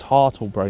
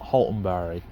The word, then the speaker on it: Hartlebury: I can now pronounce it properly because I've learnt. It's Hartlebury, not Haltonbury. Hartlebury.